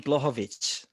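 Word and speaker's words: Błachowicz: uh so jan can you say his name blochovich by the way that's how you say yeah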